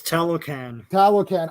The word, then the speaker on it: Talocan: It's Talocan. I knew that. Rhymes with Taliban. Oh, no.